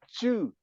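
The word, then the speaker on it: 智: But Chu pronounced at the fourth tone, which is wisdom, you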